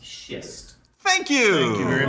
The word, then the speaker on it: schist: Just so you know, it is pronounced schist. Thank you. Thank you very much. Schist.